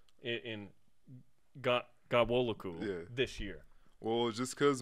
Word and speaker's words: Ghanwoloku: I'm like, it's not Guacamole. So say it again, because we think we know how to say it, but we want to make sure. All right, so it was like, the N in it is silent. So if you take the N out, it's just Ga-wo-lo-ku.